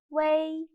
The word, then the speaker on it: wei: done please pay attention wei is written as o e in syllable the middle letter o is omitted so when pronouncing wei you should add the uh sound in the middle for example and there